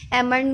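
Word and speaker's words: almond: Next है डम में बी साइलेंट, पाम में एल साइलेंट, प्लम्बर में बी साइलेंट, एमंड में एल साइलेंट।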